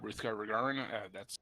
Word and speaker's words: Ruthgar Rugharin: I'm Ruthgar Rugharin. That's how I pronounce it.